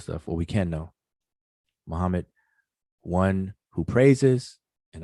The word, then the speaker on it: Muhammad: it means you know like the very word muhammad muhammad ali like we we say it wrong it's not just said plainly like muhammad that's not how it's pronounced in arabic properly muhammad even muhammad ali the way we pronounce ali that's not how arabic speakers say that word or that name you know so as